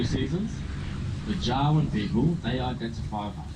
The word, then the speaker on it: Jawoyn: Jawoyn, it's like saying Darwin, but with a J, and it's spelt Jawoyn, Jawoyn.